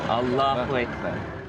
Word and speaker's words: Allahu Akbar: Inflection is on the second syllable. Allahu Akbar.